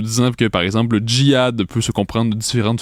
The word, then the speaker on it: jihad: c'est en Arab le le mot se prononce quand même jihad donc il pas de